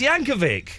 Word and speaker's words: Yankovic: He's not going to say it, but it's pronounced Yankovic.